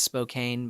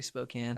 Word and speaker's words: Spokane: Um, a lot of people think it's Spokane, but it's actually Spokane. Are you Are you proud of me that I pronounced it right?